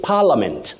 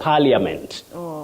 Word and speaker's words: parliament: Then we also say parliament, not parliament. Parliament. That I is silent, like in the word friend. You don't say friend. You say friend, Friend. parliament, Yes. without saying lia.